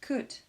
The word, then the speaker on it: could: Attention, ne pas prononcer le L dans should, would et could.